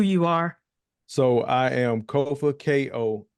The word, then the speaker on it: Kofa: So I am Kofa, Kofa, not coffee, not kufu, not kofi, Foo-foo. or any or any variation thereof. Kofa rhymes with sofa.